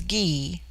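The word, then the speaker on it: Gy: the singular with man the word for woman is Gee pronounced hard as in gu it forms itself into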